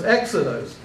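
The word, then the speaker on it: ἔξοδος: acute accent if you if it was a rough breathing how would you pronounce that hexos hexadus but you don't have the rough Brea you have the smooth Brea so it's exodos it makes a lot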